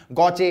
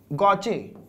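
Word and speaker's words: gauche: से का सकते हैं कोई गाउचे कहता है कोई गेज कहता है अलग-अलग इसके प्रनंसीएशन इंग्लिश फनी लैंग्वेज अच्छा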